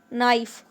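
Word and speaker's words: knife: इसमें के को हम साइलेंट पढ़ेंगे और बोलेंगे नाइफ। नाइफ।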